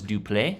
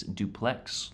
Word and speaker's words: Duplex: uh for this ship I thought it was dupl but actually it is duplex like the housing structure here in America but yeah I I